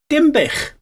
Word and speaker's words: Dinbych: you will see that Denbigh, pronounced the way they would have spoken it in those days, would have sounded like Denbych, which is not a million miles away from its real name of Dinbych.